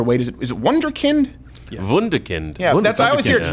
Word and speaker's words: Wunderkind: How do we pronounce this there, Wade? Is it Wunderkind? Yes. Wunderkind.